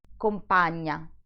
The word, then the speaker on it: compagna: In the first word, the accent falls on the letter I, compagnia, while on the second word, the accent is on the first A, compagna.